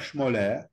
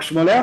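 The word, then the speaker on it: Schmoller: par son chef de fil qui s'appelle Gustave schmoler Gustave ça s'écrit GS tu es gus t Gol sol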